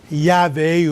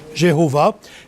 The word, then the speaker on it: Yahvé: La dernière fois, on a regardé Elohim, puis ce matin, on est rendu à Yahvé, ou certains le prononcent Jéhovah.